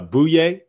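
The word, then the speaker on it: Bouyea: is is booyah ali yeah it's pronounced it's pronounced uh bouye oh yeah yeah but it's it's spelled boo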